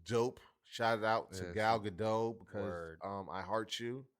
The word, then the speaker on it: Gal Gadot: Shout out to Yeah, Gal Gadot because Word. I heart you. Yeah, what? Gal Gal- Gadot.